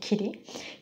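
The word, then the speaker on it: kitty: খিটি যেমন আমরা বিড়ালকে খিটি বলে ডাকি সেই খিরি খিঠি কে উচ্চারণ করে খিরি খিরি কারণ এটা ফ্ল্যাপিং করা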